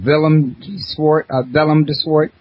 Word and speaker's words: Willem de Swart: His name is Willem de Swart, and it's spelt with a W, but it's pronounced like a V.